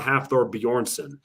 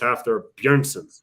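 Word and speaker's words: Hafþór Björnsson: pronounced his name properly his name is not half thor bjornsson it's after bjergsen that's how it's pronounced in icelandic and i did it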